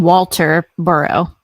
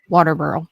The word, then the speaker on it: Walterboro: They're saying Walter Burrow, but they're pronounce it Waterboro, just like people.